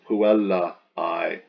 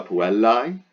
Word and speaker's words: puellae: more like the girl's, that A-E pronounced I, like the apostrophe S, the girl's letter.